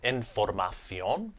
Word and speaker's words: información: these over into Spanish, all we simply have to do is change the T over into a C and just add a little accent mark above the O there. So to give you an example, information becomes información. So información. Formation becomes formación. So formación. And celebration becomes celebración. So, celebración.